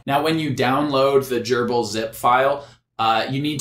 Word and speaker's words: GRBL: have to download the gerbil which is spelled grbl all caps but I believe it's typically pronounced gerbil you'll need that library